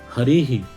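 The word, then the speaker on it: हरिः: कहा गया है कि विसर्ग और अर्ध विसर्ग जिस स्वर पर आश्रित होते हैं उसी स्वर के अनुसार उनका उच्चारण स्थान होगा अब यहां पर किस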